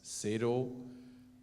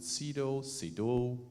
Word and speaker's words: Sedo: I got this question so many times, and it's SEDO. That's how we say it in Germany. It's a German company, but you can also pronounce it SEDO, so whatsoever.